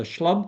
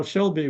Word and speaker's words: SHLB: at us and said so what are you guys the schlub Coalition so we realized pretty quickly we had to come up with a better pronunciation than that so that's that's how Shelby was born the lingo and uh